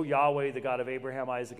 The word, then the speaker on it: Yahweh: caps, that's the Tetragrammaton, Yod Heh Wah Heh, pronounced Yahweh in Hebrew, or the how we slaughter it in English, Jehovah.